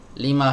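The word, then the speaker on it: لِمَ: Dia berkata kepada Ammar, "Lima kharajta minal fasli ya Ammaru." Ya, ini jangan dibaca lam, ya. Yang dibaca lam, ini dibacanya 5.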